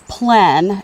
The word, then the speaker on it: plein: teacher in Morristown and he says it's plan plan and I never did get the r in the air but we take off